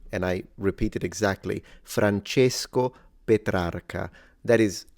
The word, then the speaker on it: Francesco Petrarca: So he's closing the E, Francesco Petrarca.